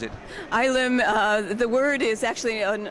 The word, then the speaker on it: Ylem: What is ILM, or how do you pronounce it? ILM, the word is actually an old Greek word that refers to the primordial mass of the universe before the Big Bang.